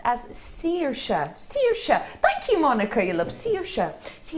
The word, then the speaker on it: Saoirse: Saoirse, normally pronounced as Saoirse.